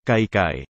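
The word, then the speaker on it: kaikai: Meski gaya pengucapan abjad, atau alfabet bahasa Tok Pisin itu menyerupai atau sama dengan gaya pengucapan abjad dalam bahasa Inggris, namun dalam pengucapannya di dalam susunan kata atau kalimat, itu menyerupai atau sama dengan gaya baca bahasa Indonesia.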